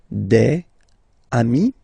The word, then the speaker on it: amis: Even if you get to write the S, then you don't pronounce it.